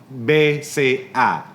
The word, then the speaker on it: BCA: the bank BCA or B say ah as the way the locals pronounce it here bang Central Asia now